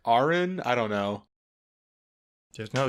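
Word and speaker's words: Aran: it doesn't sound right it said it said in one of the games as Aaron so I'm gonna go with that but man I don't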